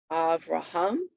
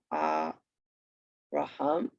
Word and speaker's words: Avraham: other than last syllable, and accent on last syllable. So we have Avraham. Avraham. You could hear it naturally there, right? Try that with yourself. Avraham.